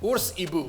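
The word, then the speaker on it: Ours-hibou: I know the card it spoiled was in French, so it's pronounced Ours Ibu. That is how it's pronounced in French, but Owl Bear is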